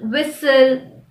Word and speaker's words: whistle: Usually anything ending in S-T-N has a silent T. For example, listen, moisten. Also, the words ending in S-T-L-E are likely to have a silent T in them. For example, hustle, whistle, castle.